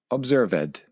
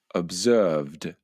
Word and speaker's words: observed: It's very common to hear people express these verbs phonetically. For example, observed, crashed, and concluded, when in fact they should be pronounced observed with a d sound at the end, crashed with a t